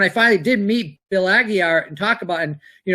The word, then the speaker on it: Aguiar: His proper pronunciation of his name is Aguiar. It's pronounced the way.